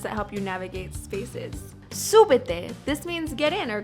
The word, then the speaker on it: súbete: Súbete. This means get in or climb up. Súbete. I want you to stress that first syllable.